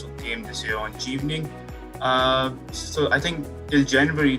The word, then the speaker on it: Chevening: So it's called Chevening.